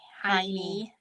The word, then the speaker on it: Heine: Club is a Laura Heine. I know. I always I didn't know how to pronounce it, so I purposefully went and I watched and she pronounces it Heine in a Yes.